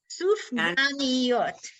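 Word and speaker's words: סופגניות: So How do you pronounce the donut Sufganiot. sufganiyot?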